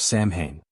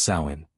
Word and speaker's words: Samhain: The origins of Halloween can be traced to the ancient Celtic festival of Sam Hane, pronounced sain.